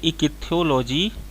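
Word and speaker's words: ichthyology: चलिए दोस्तों, इसका सही आंसर ऑप्शन नंबर सी, इकिथ्योलॉजी। जिस विज्ञान की जिस शाखा में हम मछलियों का अध्ययन करते हैं उसे इकिथ्योलॉजी कहा जाता है या इक्थियोलॉजी, सॉरी प्रोनाउंसिएशन में थोड़ा सा मिस्टेक है, इक्थियोलॉजी उसको कहा जाता है, ठीक है ना।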